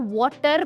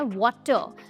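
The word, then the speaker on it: water: अब दोस्तों, यहाँ पर बहुत सारे लोग इस वर्ड को वाटर प्रोनाउंस करते हैं, बट इसकी सही प्रोनाउंसिएशन है वाटर, जहाँ पे र साइलेंट होता है।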